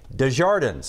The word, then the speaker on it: Desjardins: Well, it's actually Desjardins, as in Jake Desjardins. Right. Yeah. This year, we're going to be hearing a lot more of his name. I think there's a lot of ways to pronounce it, but that's just the most simple way that I go with.